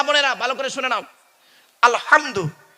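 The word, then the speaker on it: الحمد: না আব্বা বলুন না আলহামদু গলার ভেতর থেকে উচ্চারণ করবেন এই মা বোনেরা মা বোনেরা শুনছেন এই মা বোনেরা ভালো করে শুনে নাও আলহামদু গলার ভেতর থেকে উচ্চারণ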